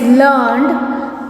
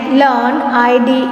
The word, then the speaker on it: learned: We pronounce it as learned to rhyme with created, weighted. We pronounce it as learned, id to rhyme with created, weighted.